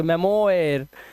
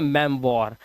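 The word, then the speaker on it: memoir: देखो पगला जाओगे देखो क्या पढ़ोगे इसको मेमोरा क्या पढ़ोगे मेमोयर नहीं इसे पढ़ते हैं मेम वॉर ये ओ आई जो होता है ये व बन जाता है मैंने बोला ना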